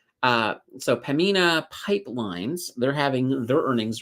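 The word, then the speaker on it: Pembina: pamina uh pamina ah somebody keeps telling me the bee is silent uh so pamina pipelines they're having their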